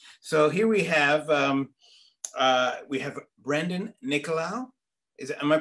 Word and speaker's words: Nicolau: So here we have Brendan Nicolau. Am I pronouncing that correct?